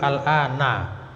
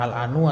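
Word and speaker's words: الآن: Ini selalu al-ana. Nah, dia keterangan waktu sekarang. Selalu bacanya al-ana. Tidak pernah al-anu atau al-ani.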